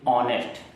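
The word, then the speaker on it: honest: अब कुछ वर्ड ऐसे हैं जैसे ऑनेस्ट, जैसे अवर, जैसे ऑनर, तो ऐसे वर्ड में एच साइलेंट है, लेकिन जब हम उसको बोलते हैं तो आ का साउंड निकलता है, मतलब स्वर निकलता है।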